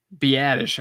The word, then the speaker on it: Biadasz: Tyler, I always pronounce his name wrong. It's Biadasz, right? Biadasz, I think is how you say it. Yeah, that's right.